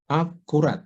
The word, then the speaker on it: accurate: Nah, itu rate-nya masih stres kan. Padahal harusnya enggak ya. Jadi accurate. Setelahnya pada yang pertama ya.